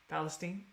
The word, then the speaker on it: Palestine: I said it right, Palestine.